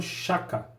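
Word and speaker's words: Shaka: do continente africano, que é o rei chamado Chaka, ou Chaka, né? A gente tem as duas pronúncias, né?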